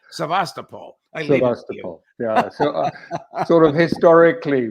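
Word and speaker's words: Sevastopol: twice and insists it's svast but when I heard uh um forign Minister lavro pronounced it he he pronounced it he said it the way we do in English sast Paul yeah so sort of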